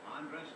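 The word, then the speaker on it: Andrés: Andres Galarraga. Andres, that's how you pronounce his name.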